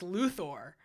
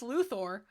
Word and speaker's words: Luthor: like Lex Luther uh it's not it's Thor everybody in this game says luor and everybody in chat